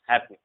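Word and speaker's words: halfpenny: Silent नहीं होता है, बट एक ऐसा वर्ड है जिसमें एफ साइलेंट होता है, इसे हम हैपनी पढ़ते हैं, हैपनी, ठीक है, इसे हैपनी पढ़ते हैं।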